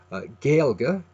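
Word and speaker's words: Gaeilge: Dong's page is a a so you can pronounce this as gilga or if you want you can put a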